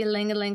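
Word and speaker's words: ylang-ylang: Ylang ylang. This one's a powerful aphrodisiac. Ylang ylang, also commonly pronounced ylang ylang, is a bright, sweet floral oil that grows on the Young Living farm in Ecuador.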